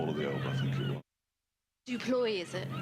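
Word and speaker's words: du Plooy: Duploy, is it? Duploy. Leas Deploy. Okay. Yeah. Hate mispronouncing names, I think.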